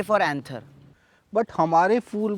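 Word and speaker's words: anther: आप इस फूल का पैंथर इस फूल के पैंथर से टच करा देते हैं सॉन्ग में। सर इट्स एंथर, पी sir silent like in psychology pseudo.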